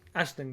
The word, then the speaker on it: Aisling: Aisling, yep. I'm terrible at pronouncing names. I apologise. It's, to be fair, in your defence, Irish pronunciation is ridiculous. That's not fair. Because how is AIS Ash?